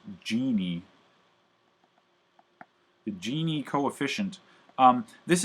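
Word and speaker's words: Gini: it the genie coefficient this is pronounced genie the genie coefficient um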